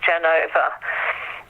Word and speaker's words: Genova: fourth quarter in Genoa, in Italy, so sometimes pronounced Genova.